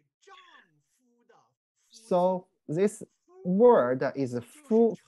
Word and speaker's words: 夫: 个字我们刚才说它读作夫， We call the pronounced 夫.